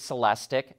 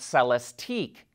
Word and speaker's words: Celestiq: in the background and yes they pronounce it celestic not celestique this is the limited